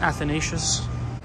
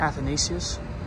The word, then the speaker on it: Athanasius: this is the church there's two ways you can pronounce this church saint athanasius saint athanasius but here it is